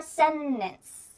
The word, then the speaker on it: sentence: I've gotten a lot of comments about how to pronounce the word sentence. Sentence or sentence? Ooh, I say sentence, and I've gotten so many comments of people saying, Vanessa, why do you pronounce it like that? How did you say that? Well, this is a lovely concept called the glottal T.